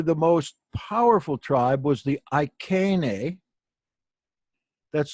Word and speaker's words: Iceni: Probably the most powerful tribe was the Iceni. That's spelled I-C-E-I-I, the last I is plural.